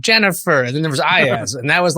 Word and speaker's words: Iyaz: So the correct pronunciation is not Iyaz. It is now. Oh, it's Iyaz. Yeah. I mean, it's Iyaz. I've completely like my folks used to call me Ayaz, and that's another name though.